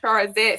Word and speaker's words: Charzette: CH is silent, so you actually pronounce it SH, and the Yep. E is silent at the end, so it's Charzette.